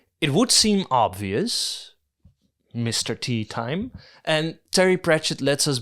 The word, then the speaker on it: Teatime: Teatime? It's pronounced Teatime, sir, said Teatime with a hint of reproach. Everyone gets it wrong, sir.